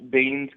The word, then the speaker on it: Biehn: after sitting through the Terminator again that Michael Biehn's character, Kyle Reese, the performance of that character.